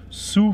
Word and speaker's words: Sioux: South Dakota, und zwar genauer in der Stadt Sioux Falls. Warum sage ich Sioux? Weil es Sioux ausgesprochen wird.